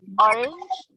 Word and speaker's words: orange: For example, in the word banana, it's on the second syllable, while in the word orange, it's in the first syllable.